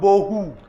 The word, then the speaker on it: bohu: the other is called bohu. अनि अर्को चाहिँ शब्द छ त्यो चाहिँ हो बहु। And if you see, it rhymes with one another.